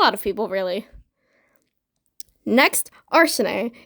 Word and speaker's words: Arsene: Next, Arsene. It is spelled Arsene. It's not Arsene, it's Arsene. Arsene is not the correct pronunciation, but I just prefer Arsene for whatever reason.